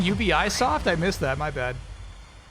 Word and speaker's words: Ubisoft: That was Ubisoft. It was like it was barely an error, chat. That was a misprononunciation. That wasn't like this is how you say it in Japanese.